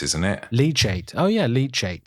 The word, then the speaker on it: leachate: it leate oh yeah leachate cuz it like leech out of course yeah is any liquid